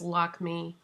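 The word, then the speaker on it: Lakmé: a section that has lock me actually it's probably pronounced lockme lockme lockme kajal eyeliner and if you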